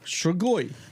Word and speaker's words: strigoi: my Romanians, the Strigoi, which is the Romanian vampiric spirit, How do you spell that? Strigoi, right? So Well, SHTR. no, Strigoi. Oh, Strigoi. Strigoi.